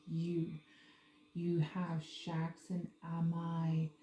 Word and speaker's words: Amy: You have Shax and Amai. It's not Amy. It's pronounced Amai.